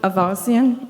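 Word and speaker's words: Aivazian: John tible good morning my name is aasian you came close on the pronunciation it's spelled l o r i last name is a i v a the I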